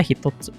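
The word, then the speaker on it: 一つ: Jadi kalau dia berdiri kayak gini sebelah kanan ada ini bisa dibaca hitotsu artinya satu satu yang ditulis hitotsu ini ini biasanya dipakai buat nunjukin ada satu benda gitu.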